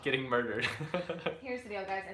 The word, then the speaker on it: My Favorite Murder: your videos, listen to is it My Favorite Murderer or Murderer? Murder. Okay, I've been saying it wrong for like a year now.